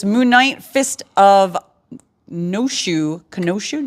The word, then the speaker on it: Khonshu: Khonshu? Do you pronounce the K? Khonshu.